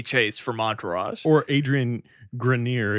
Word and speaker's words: Grenier: from Entourage or Adrian Grenier if you've never heard his name pronounced yeah it's actually green yeh but but anyway so